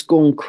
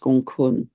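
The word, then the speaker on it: Gonggong: right now which is gun spelled gong gong but pronounced gun almost five degrees of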